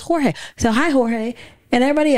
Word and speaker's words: Jorge: His name is spelled J-O-R-G-E. Jorge. Everybody calls him George. But it's Jorge. We were in a meeting, the first meeting, I've never met him.